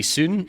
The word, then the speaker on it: Seon: it as well um it's meant to be soon right Korean yes but that's the